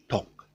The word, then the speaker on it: talk: talk talk talk talk it sounds like there's an l in it but it's not the virtue of the fact that you push your tongue down sounds like there's an l somewhere but you're not pronouncing any l okay uh this with